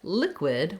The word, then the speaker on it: liquid: Then when we look at liquid, we also have first syllable stress in liquid. We have our I vowel again here, same that we heard in solid at the first part and the second part of liquid. So both letter I's in liquid say I, like in lick or did.